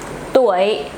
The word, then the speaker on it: tuổi: Tuổi, bạn bao nhiêu tuổi? Not bạn bao nhiêu túi.